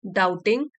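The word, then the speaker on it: doubting: डाउटिंग, B silent है इसमें, and began, डाउटिंग शुरू किया उसने, ये भी वर्ब का सेकेंड फॉर्म है, बिगिन, बिगैन।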